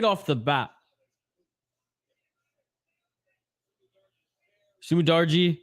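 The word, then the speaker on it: Su Mudaerji: on oh and schnell right off the bat sumidarji sumidarji that's how you say his name okay okay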